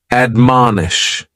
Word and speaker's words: admonish: is to admonish and admonish has three syllables and the stretch is on that second syllable man admonish and this is a